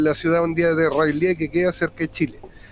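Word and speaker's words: R'lyeh: Y la ciudad hundida de Rayleigh, así se pronuncia. ¿Escucharon bien? ¿Escucharon bien, no? Es como que se te mete una mosca en la boca así.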